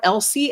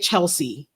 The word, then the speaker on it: Elsie: Sarai, I please if I say your name wrong, correct me because I'm Elsie and I get Chelsea. So your name is Sarai. I I swear to God I get Chelsea all the time.